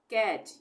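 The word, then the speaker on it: catch: सी eighty C एच कैच यहां पे भी टी के बाद सी एच आ रहा है ये तो यहां पर भी टी का उच्चारण नहीं होगा इसको हम पढ़ेंगे कैच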